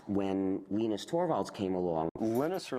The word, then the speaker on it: Linus: venus torvalds came along linus or linus what's exactly your preferred pronunciation um when i speak swedish it's venus when i speak finnish it's linos when i speak english it's linus and i really don't